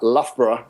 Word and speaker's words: Loughborough: the top college you had a pretty good pronunciation of Loughborough is the way that we always pronounced that